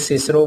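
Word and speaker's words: Cicero: इख्तलाफ था, वो उनका जिक्र आया कि एक सिसरो वर्ड था और एक जो है विसिसिज्म था। रॉल्स्टन चाहता था कि सिसरो जो है उसे किक्रो प्रोनाउंस करवाया जाए और जो विसिसिज्म है उसे वी किस्म पढ़ाया जाए।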